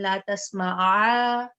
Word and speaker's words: لا تسمع: It will be la tasma, then la tasma'a, right? then because if you say la tasma, then you're essentially dropping the ain.